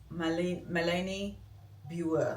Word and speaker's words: Malene Birger: I learned that's the pronunciation at the very end. I was saying Malene Birger show or Birger, and it's not. It's Malene Birger. Which one was it? Malene Birger.